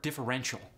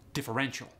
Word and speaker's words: differential: For instance, take the word differential. In the American standard accent, you got differential. The emphasis is on the N.